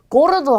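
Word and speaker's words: gordo: 자, 우선 뒤에 모음이 아, 오, 우로 오는 경우는 기역 발음이에요. 그래서 자, 이 단어는 가파스라고 읽고요. 자, 이 단어는 고르도라고 읽겠죠. 그 다음에 이 단어는 구스토라고 합니다.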